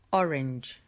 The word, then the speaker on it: orange: Entonces la primera palabra que tenemos en pantalla es orange. Orange. Cuidado con la A, es una E.